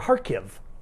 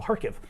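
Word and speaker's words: Kharkiv: it's pronounced harke or harkiv like an h at the beginning or greek which we use and at the end so harkiv they've been using cluster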